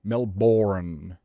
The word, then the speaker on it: Melbourne: Now, Bane and Bourne are pronounced the same. How the is Brisbane and Melbourne? How is those born and how are they spelled the same? Sorry, sound the same. They're both pronounced bun. Just bun. There's no vow. Remove the vowel. There's no It's not bin. It's not ben. It's not banan. It's bun. Just no vowel.